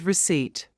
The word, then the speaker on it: receipt: don't pronounce the P the same with the word receipt don't pronounce the P pH is usually pronounced